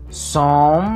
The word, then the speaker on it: some: En este caso, los dos ejemplos que yo coloco, he needs some medicine, there are some flowers in the garden. Recuerden que esta E no se pronuncia y que la M debe sonar bien. Some.